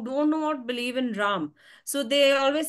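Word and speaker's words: राम: So in Hindi, it is actually Ram. The original is Ram. But when we pronounce it in English, somehow due to the, I don't know what influence, the British influence or what, it has been changed to Rama in English. Originally, it is Ram.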